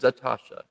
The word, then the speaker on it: Atasha: So it is Atasha.